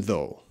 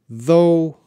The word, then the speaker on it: though: even though okay although though even though that's how you pronounce make sure you don't say those you don't say the gh that's silent you need it for spelling but not for your speaking I'm gonna check the